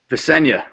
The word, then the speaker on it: Visenya: Can you give us the pronunciation of that name? Is it Visenya? Visenya, correct.